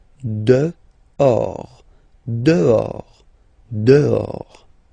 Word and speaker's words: dehors: Dehors. Okay, so remember, final S not pronounced, and then this H. In French, doesn't exist phonetically, so you don't pronounce it. De or, dehors, dehors.